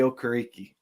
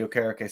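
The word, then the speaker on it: Okereke: went and grabbed Bobby O kariki or Ok Okay okay I pronounce it Like Pat McAfee um but uh yeah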